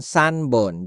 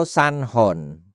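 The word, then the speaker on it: 三本: Perhatikan, pengucapannya bisa berubah ippon, nihon, sanbon. Jadi tidak selalu dibaca ichihon atau sanhon.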